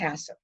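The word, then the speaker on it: HACCP: analysis critical control point we we we abbreviate it into this it's pronounced asta it means that all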